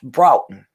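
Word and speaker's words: Broughton: br br broen something like it's Bron say it Southern b r a w t o n Bron but it's spelled b r o u g h t o n and I guess it's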